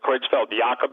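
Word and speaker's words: Creutzfeldt-Jakob: pronounced better it looks like jacob but they pronounce it kreutzfeld jacob disease you know uh out of the jungles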